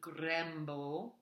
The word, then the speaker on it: grembo: Vola in grembo. That funny looking E is a short E sound.